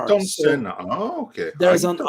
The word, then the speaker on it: Ayrton Senna: Yeah, in Brazilian Portuguese, we pronounce Ayrton Senna. There's an R. Ayrton Senna. Oh, okay. There's Ayrton an R. Senna. So Ayrton Senna.